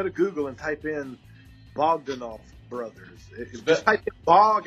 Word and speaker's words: Bogdanoff: Yeah, just go to Google and type in Bogdanoff brothers.